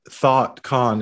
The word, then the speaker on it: Thotcon: listeners of the podcast might think that thought khan is spelled t h o u g h t um but actually it's spelt t h o t which uh in popular